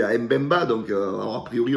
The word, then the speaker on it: Mbemba: Après, il y a Mbemba, donc alors a priori, on ne prononce pas le M, c'est Bemba, donc qui est, à